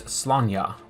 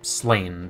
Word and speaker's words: Sláine: Today we'll be painting a skull sword from the Drune warband of the Sláine miniatures game from Warlord Games.